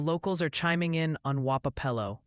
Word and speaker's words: Wapello: Also, just a heads up, the locals are chiming in on Wapello. Seems the consensus is leaning towards something like Waplo or Wapo.